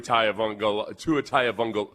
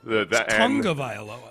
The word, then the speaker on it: Tagovailoa: You know what always gets me with Tua is the fact that it's pronounced way differently than it's spelled. Tagovailoa.